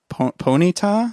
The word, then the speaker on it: Ponyta: I don't know a lot about Pokemon, but Ponyta?